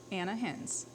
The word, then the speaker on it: Ana Hinz: Ana Hinz.